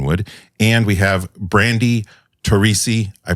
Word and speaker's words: Torrisi: Captain welcome Dan wood and we have Brandy tesi I pronounced that correctly yes you did and you